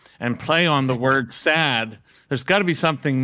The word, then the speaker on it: Saad: on sad sad whereas my name is s-a-d but sad if I pronounce it in Arabic it's sad it has a guttural sound it refers to happiness